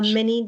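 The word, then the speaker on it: Minie: Uh, Minnie, spelled M I N I E. Last name is spelled D H A L I W A L.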